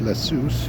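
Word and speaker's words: Ἰησοῦς: Um and uh the name for Jesus in that Greek is uh I believe it's pronounced Iesous, and I'm going to turn this around here.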